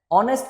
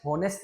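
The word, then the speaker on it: honest: ऑनेस्ट को जब हम पढ़ते हैं तो उसको मैं होनेस्ट नहीं पढ़ता। ऑनेस्ट पढ़ता हूं। ह का साउंड नहीं आता। इसीलिए एच साइलेंट होता है।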